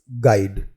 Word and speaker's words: guide: Our next word is गाइड, GUIDE। इस word में U जो है वो साइलेंट होता है और इस वर्ड का हिंदी अर्थ मार्गदर्शक या पथ प्रदर्शक होता है।